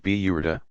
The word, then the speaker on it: Burda: A very popular part of the festivities is the recitation of a poem by the 13th century Egyptian poet Bizari, the Burda, pronounced Biyurda, mantle.